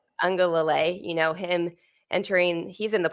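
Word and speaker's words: Uiagalelei: Ungalale. Ungalale, him entering, he's in the portal, I believe, right?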